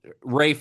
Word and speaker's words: Ralph: But that is that is like Rafe is the old English pronunciation of the name that later turned into the pronunciation of Ralph.